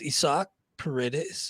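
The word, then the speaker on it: Isaac Paredes: picked up isak paredes i heard the announcers calling him that i was like no i can't be right then i went to his baseball reference page indeed it is uh pronounced isak paredes and uh picked him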